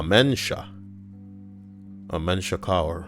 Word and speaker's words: mensch: so used to your we're programmed when we see the word Amen or you know to say it like that but the word is of course a mensch ah a mensch a